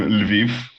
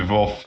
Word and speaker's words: Lviv: third residence there in Lviv. I think this is how it is pronounced in English. It's also Lviv in Ukrainian, Lvov in Russian.